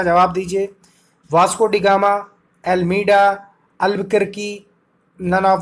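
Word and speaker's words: Albuquerque: Vasco da Gama, एल्मीडा, अल्बुकर्की, none of the above. ये जो आपका दिया है सी जो है अल्बुकर्की दिया है, इसका बोलेंगे अल्बुकर्की, ठीक है, करेक्ट प्रोनाउंसिएशन है इसका।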